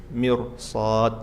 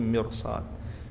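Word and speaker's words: مِرْصَاد: Innabbaka labil mirs bukan mirs tapi mirsad.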